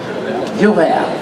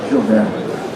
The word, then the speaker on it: Jules Verne: How do you pronounce it in French? Jules Verne? Jules Verne. Mon cher, Jules Verne.